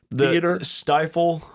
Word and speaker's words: Stifel: up for Bailey Zimmerman at is do you pronounce it the Stifle? Stifle.